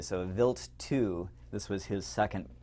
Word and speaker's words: Wild: it and in uh in german uh a w is pronounced like a v so a vilt ii this was his